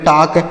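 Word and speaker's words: talk: तो इसे क्या पढ़ेंगे इसे पढ़ेंगे टॉक टी ए एल के टॉक यहां पर एल साइलेंट है हम इसको नहीं पढ़ेंगे और टक मतलब क्या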